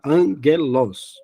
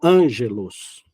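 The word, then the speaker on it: ἄγγελος: colocar o Gu como no caso de angelos tá angelos e não Ângelos tá o v será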